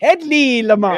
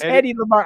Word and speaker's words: Hedy Lamarr: It's Headley Lamarr. Headley. What'd I say? Headley. Oh, I'll put an L in there. No, it is Hedy Hedy Lamarr.